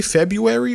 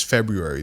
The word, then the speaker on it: February: February do you say February or Fe February I feel like I'm trying to pronounce the r but no one else does no one in America says February they say February and